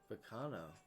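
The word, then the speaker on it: Baccano: Yes, I think it's supposed to sound Italian.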